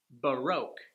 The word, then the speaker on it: Baroque: Baroque - that's a time period in European history associated with the art world - it's four vowels... two sounds: Ba...Roque.